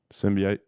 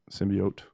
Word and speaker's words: symbiote: go uh-huh last one sin b8 symbiote symbiote my man over here gets pissed when I say sin B 8 although either pronunciation is technically correct according to Webster dictionary Bruce Banner back cross